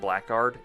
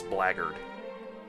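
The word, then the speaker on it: blackguard: It's not blackard. It's blarded. That's how it's pronounced.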